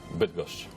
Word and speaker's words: Bydgoszcz: So you are from Bydgoszcz. Bydgoszcz, yes. Okay, not bad pronunciation there, in Poland, but you're now in Bournemouth.